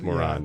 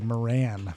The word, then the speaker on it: Moran: moron, It sounds like moron. Yeah, it's absolutely. It's Moran, and it's pronounced moron. Yeah, the Anglican way would be Moran, but there you go.